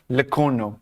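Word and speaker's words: Lecornu: Please let us know if pronunciation. Sebastian Leorno. Say again. Sebastian Leorno. Leono.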